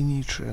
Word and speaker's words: Ницше: кому-то Как как нравится Я думаю что правильно говорить Достоевского и ниши Но если это прям прям совсем принципиально Ну европейцы же говнюки они будут хотя бы просто из из говн своей принципиально будут говорить ниша и Достоевского А собственно